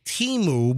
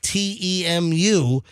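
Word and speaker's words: Temu: Also, I have an email regarding that uh Chinese ecommerce site uh Teu, which you know, we all want to say Teimu, but on the commercial that they ran 19 times on the Super Bowl.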